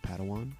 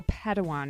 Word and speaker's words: Padawan: assigned a pad one to this bold Jedi pronounced Padawan Oh Padawan excuse me hey it's getting late I think